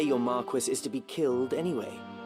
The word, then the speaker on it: Marquis: I have a feeling whoever the voice director is did not know how it was supposed to be pronounced. Marquez is actually just a different uh is the 16th century variant of Marquee. Uh so it actually is Marquis like they're saying it correctly for whatever they're doing.